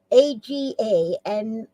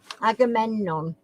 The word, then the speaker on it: Agamemnon: I'll spell it for you. Who was the wife of Agamemnon, Agamemnon, mythical king of Mycenae, Mycnae.